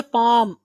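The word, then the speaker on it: paw: उसके बाद है पाम, आप एल साइलेंट पढ़ेंगे, पाम मीन्स हथेली। उसके बाद अगला है पॉ, इसको ब्रिटिश पॉ पढ़ते हैं लेकिन अमेरिकन पा पढ़ते हैं, लेकिन आप पॉ थोड़ा सा डब्लू की भी आप निकालेंगे, पॉ।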